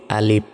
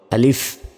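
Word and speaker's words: ألف: অক্ষরটি সেটি হচ্ছে আলিফ আমরা অনেকে বলি আলিফ অর্থাৎ স্বরে ল এর রসই শেষে বাংলার প এর মত উচ্চারণ করি তো শেষে বাংলা ফ এর মত উচ্চারণ হবে আলিফ আলিফ আর এই আলিফ কোন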